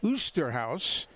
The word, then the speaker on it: Oosterhuis: You see that spelling. It could be a lot of things. He pronounces it the straight American way, Osterhaus. If we were on the golf course, it would have been Oosterhuis.